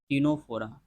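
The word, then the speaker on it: Ctenophora: में है Nora Nora य पर सी साइलेंट होता है टनो फोरा पडी फेरा सिल नोरा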